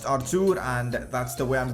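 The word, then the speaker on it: Arthur: debate in the comments section of our two's pronunciation whether it's Artur or whether it's our tude apparently in Portuguese it's pronounced r2 and that's the way I'm gonna pronounce it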